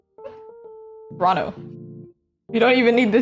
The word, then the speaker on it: Toronto: They don't pronounce the second T. 20 Toronto Toronto.